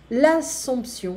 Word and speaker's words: l'Assomption: Pâques et le lundi de Pâques, Noël, le 25 décembre, l'Ascension, la Pentecôte, l'Assomption, so l'Ascension et l'Assomption. So here we pronounce the P.